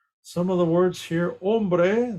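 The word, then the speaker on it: hombre: of the words here ombre the H in Spanish is silent let me see what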